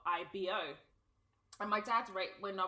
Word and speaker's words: Ibo: have entitled this episode IBO so it's actually pronounced IBO but not the indigenous way that we spell